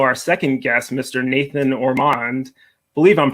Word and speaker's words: Ormond: Nathan Ormond. I believe I'm pronouncing that correctly. Yeah, that's right. Ormond.